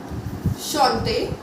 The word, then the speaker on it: chante: Here as you can see, CH is together, so we are going to sound it like sh, that is chaise. Chateau, chateau, chante, chante, chapeau, chapeau.